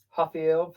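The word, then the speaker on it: Rafael: Ah Raphael Hafael Pazie. Yes because the R. That's how they say it.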